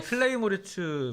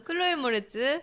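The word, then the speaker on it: Chloë Moretz: 아 근데 클레이 모리츠 목소리가 클로이예요. 클로이. 아니죠. 클레이는 이제 클로이는 맞지. 진흙이라는 뜻이고요. 네, 그래서 클로이 모레츠.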